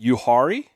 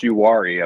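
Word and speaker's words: Uwharrie: Uhari. close. Uwari, I believe, is how it's.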